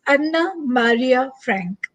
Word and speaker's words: Anne Frank: So you can say her name, if we pronounce in her language, it is Anna Maria Frank.